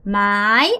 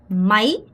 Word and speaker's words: máy: 여러분 이거 máy 아니고 máy 아가 짧고 y의 강세. máy đi xe máy 이렇게 발음하셔야 돼요.